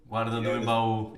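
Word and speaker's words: Guarda do Embaú: We have, and you might kill me for my pronunciation of this because it's a Brazilian destination, Guarda do Embau. Guarda do Embau, yeah. Yeah, there you go. That's better. Thank you.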